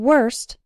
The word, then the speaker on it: worst: work rhymes with perk and worst rhymes with first some students tend to